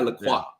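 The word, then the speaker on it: Lacroix: saying they call it everybody over here calls it lroy and I'm not saying that it's not the incorrect pronounce pronunciation it's by laqua okay yeah exactly anyways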